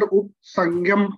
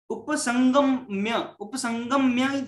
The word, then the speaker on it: उपसंगम्य: और प्रभु जी इसको मैं अगर उपसंगम पढ़ता हूँ तो गलत पढ़ रहा हूँ, राइट? उपसंगम्य है वो, संग में आधा न है और संगम्य में आधा म।